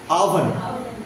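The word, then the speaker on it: oven: হবে আমাদেরকে আমি যেমন আগের দিন বলেছিলাম যে ওভেন না আভেন আওভেন রাইট ওকে আমার নাম না এভাবে উচ্চারণ করতে হবে রাইট তো এইখানে যেটা বলার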